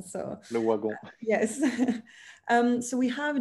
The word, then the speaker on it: Le Wagon: It's a French company, so you say Lavagun, but here I learned that you're supposed to say Le Wagon. So Le Wagon.